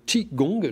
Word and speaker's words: Qigong: D'abord, Philippe Juge, vous êtes enseignant de Tai Chi Chuan et de Qigong, je le prononce bien.